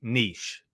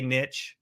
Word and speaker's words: niche: How do you say niche? Is it niche, niche, niche? Now, I am going to probably say it wrong, and I'm going to interchange it because I'm here in America. We say niche. You may have heard the phrase, the riches are in the niches. Now, it's actually pronounced, I do believe, niche.